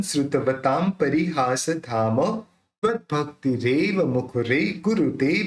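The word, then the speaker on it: श्रुतवतां: न उच्चारण निकालेंगे, अल्पश्रुतन श्रुतवताम। अब यहाँ पे प है, तो प बोलते समय दोनों होठ मिल जाते हैं, तो अपन उसका उच्चारण कैसे करेंगे, म करेंगे, काम परिहास धाम।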